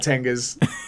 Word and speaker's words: Tenga: It's probably not my place to talk about Tengas too in depth.